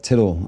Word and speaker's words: Tittle: This is Tittle on TikTok, like little but spelled with a T.